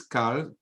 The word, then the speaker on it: calves: Okay, but it says agalim yeshakum, those who sacrifice men kiss calves. How do you pronounce calves? Calves. You don't pronounce the L, no? Correct. No. But it is there.